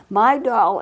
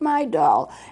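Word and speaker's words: Midol: a woman probably would know but my doll is spelled m-i-d-o-l my doll is an over-the-counter prescription not prescription over-the-counter medication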